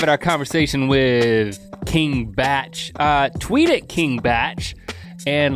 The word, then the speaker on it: Bach: our conversation with King batch tweet at King batch and let him know what you think about conversations it's spelled like Bach King bee ACH and yeah I might have thought it was Bach first time I the